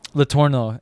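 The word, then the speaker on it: Letourneau: Oh, Latorno. Latorno. Yeah, that's how you say it.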